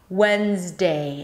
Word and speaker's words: Wednesday: When, when, Wednesday. And make sure to go through the diphthong of the A as in day. Imagine like you have a little Y sound at the end, Wednesday.